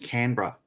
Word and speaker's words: Canberra: you what I've been up to now it's pronounced Canberra my Canberra right so I need to move